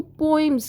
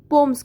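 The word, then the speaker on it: poems: फिर आता है पोम्स, यानी कि लोग इसको पोइम्स कहते हैं, बट ये असल में इसको हम पोम्स के नेम से प्रोनाउंस करते हैं, सही है।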